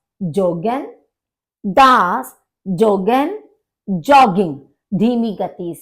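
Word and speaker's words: joggen: जो है ज का जे का जे ही आपका जोग ही प्रोनाउंस किया जाएगा इसको योगन नहीं बोलेंगे तो दास जोगन दास वंड सर्फिन दास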